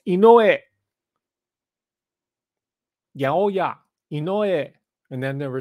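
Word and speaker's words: Inoue: hype job that uh inuy which is not how you pronounce it it's called inoe yeah and then there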